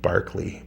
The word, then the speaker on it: Barclay: I think Barkley, but it's spelled Barclay.